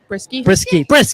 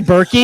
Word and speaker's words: Brisky: Well, it's funny because when Saskia was at UCLA, how do you pronounce the last name properly again? Brisky. Okay, got it. I was going to say Berkey.